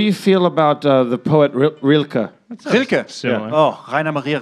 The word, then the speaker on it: Rilke: What do you feel about the poet Rilke?